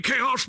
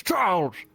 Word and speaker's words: Charles: You calling me Chaos? My name's not Chaos, it's Charles. Charles.